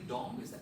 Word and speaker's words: dong: Do I pronounce this correctly? Dong?